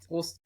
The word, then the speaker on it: Prost: Prost.